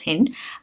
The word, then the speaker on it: hind: Hind, British or American, both are hind. But yes, Indians have come up with a new pronunciation, which is hind, but hind was the original.